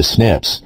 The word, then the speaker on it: SNP: This difference is a single nucleotide polymorphism, or SNP, which is pronounced SNP. Before a researcher can identify the SNPs, the DNA must be copied so that the researcher has enough DNA to work with.